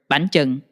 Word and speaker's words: bánh chưng: Where I would say it got a little unpleasant for me was when they started to ask me how to pronounce the word bánh chưng.